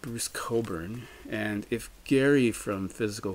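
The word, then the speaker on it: Cockburn: an artist called Bruce Coburn and if Gary from physical format rock and roll is watching Gary I just want to remind you of the pronunciation c-o-c-k-b-u-r-n Coburn just so you get that right I know you struggle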